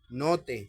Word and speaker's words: note: Note se pronuncia note, como en la palabra cuaderno, que es un libro para notas.